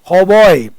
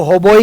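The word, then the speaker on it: hautboy: now give the होबॉय इसमें T silent है होबॉय यह आजकल तो इसको होबोई को ऐसे बोलते हैं होबॉय पहले इसको होबोई कहते थे है ना होबोई ब्रेथ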